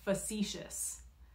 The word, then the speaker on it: facetious: right three two go facetious yeah I know it's not what it looks like right it doesn't look like that's what it says but the word is pronounced facetious it means playful or